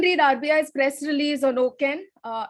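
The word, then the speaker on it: OCEN: go up and read rbi's press release on oken uh it's spelled o c e n uh excuse me it's called the open credit enablement network so go up and read about token what does okin do what does it mean for credit bureaus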